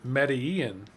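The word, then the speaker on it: Medellín: See, I even know how to pronounce it. Medellin.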